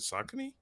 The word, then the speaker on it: Saucony: Is it Saucony? Saucony.